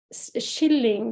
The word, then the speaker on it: skilling: Skilling, that word relates to the cheap price with which these songs were hawked and sold. I have to say that the shilling, we pronounce it like the English shilling, but in fact it's